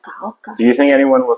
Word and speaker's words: Hoka: So, for example, I said Oka, not Hoka. And when I'm trying to explain him, like, this is my favorite, and I say why, they were like, Oka.